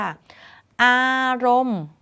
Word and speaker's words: อารมณ์: เป็น ตัว การันต์ ค่ะ อารมณ์ ไม่ ออก เสียง นอน เณร ณ เป็น ตัว การันต์ ค่ะ คำ ว่า ทุกข์ ไม่